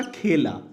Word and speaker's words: खेला: है अपने आप में, बट यहाँ पर साउंड में डिफरेंस है। खेला केला, खेला केला, इसी उच्चारण को पकड़ना होता है, बस इतनी चीज समझने की है, बाकी तो करने की है।